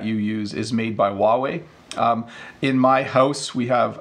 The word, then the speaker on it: Huawei: company called Huawei so I apologize to my Chinese friends if I'm pronouncing it wrong but that's how we pronounce it in Canada we say Huawei I think Ahmed got